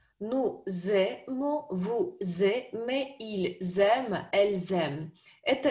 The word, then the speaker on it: ils aiment: И здесь во множественном числе везде «s» начинает читаться как «z», идет связка. Nous aimons, vous aimez, ils aiment, elles aiment.